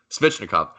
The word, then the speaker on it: Svechnikov: Svechnikov.